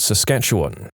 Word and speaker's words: Saskatchewan: I'm originally from a place called Saskatchewan. It's not really hard to pronounce, it's just like it's spelled, but if